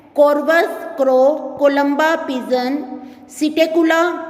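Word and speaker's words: Psittacula: Corvus crow, Columba pigeon, सिटेकुला P silent है parrot, Struthio ostrich, पेवो peacock, अपेनोडाइट्स penguin, नियोफ्रॉन vulture.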